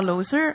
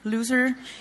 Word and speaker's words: Looser: So, my name is Looser or loser. You can choose whatever pronunciation suits you best.